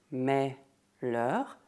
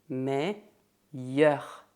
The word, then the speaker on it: meilleur: Imagine que o L duplo é um Y. Então, não se diz melheur, mas sim meilleur.